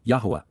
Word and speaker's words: Yahweh: Yahweh. Yahweh. The proper pronunciation of the name of Eloha God as directed in his Torah.